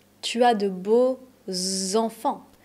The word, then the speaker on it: beaux enfants: Tu as de beaux enfants. Tu as de beaux enfants. C'est bien un X, mais on va le prononcer Z.